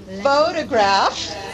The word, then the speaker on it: photograph: photography photography phography photography can you see the difference in the vowels in the first syllable of those words notice that in the